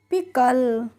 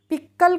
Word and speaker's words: pickle: तो सी के जब एक साथ आते हैं तो उसका प्रोनाउंसिएशन हम क्या करते हैं? क करते हैं। तो इसको हम कैसे पढ़ेंगे? पिकल। पिक्कल करके नहीं पढ़ेंगे, पिकल पढ़ेंगे।